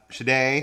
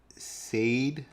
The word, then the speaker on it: Sade: Shade says Sade, like the sing.